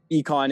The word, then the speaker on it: Eikon: So econ is how it's supposed to be pronounced, but icon works as well.